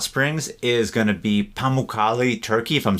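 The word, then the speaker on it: Pamukkale: bucket list Hot Springs is going to be pamali turkey if I'm saying that correctly it's spelled p a m u k k a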